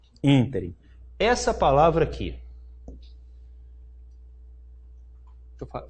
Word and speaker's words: ínterim: Essa palavra, muita gente fala interim, né? Mas na gramática ela está prevista como ínterim.